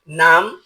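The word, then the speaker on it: numb: ডাম যার অর্থ বোবা এন ইউ এমবি এর উচ্চারণ এর উচ্চারণ নাম হবে না এর উচ্চারণ হবে নাম যার অর্থ অবস বি ও এমবি এর উচ্চারণ বম হবে না এর উচ্চারণ হবে বম।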